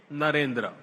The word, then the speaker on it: Narendra: I said that their name, Devendra, rhymes with my own name, Narendra.